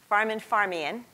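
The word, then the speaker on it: Farmanfarmaian: Farman Farmian.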